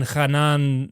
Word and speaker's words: Hanan: and and the uh the Hebrew would have been khanan Ben khanan oh well that's a